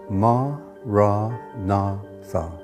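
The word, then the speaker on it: Maranatha: you choose that word say it as for syllables ma ra na Tha listen to the word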